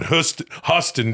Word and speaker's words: Houston: But if you go to Katz's Deli on Huston, dude, it's spelled Houston.